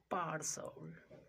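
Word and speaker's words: partial: दूसरा example, पार्सल। टी के आगे क्या आ रहा है, आई ए आ रहा है, पार्सल।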